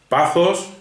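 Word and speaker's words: pathos: bueno se escribe estos pero se pronuncia esos pazos se escribe patos que se producía pazos y logos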